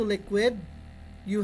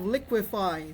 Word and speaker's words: liquefy: you add fi to liquid you have liquefy there's a there's a sound that was removed which is the DU instead of saying liquidy you say liquefy so the answer is